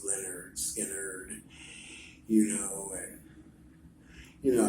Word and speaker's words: Lynyrd Skynyrd: great things you'll hear when you're a ga pronounce Leonard Skinner you know and you know how you hear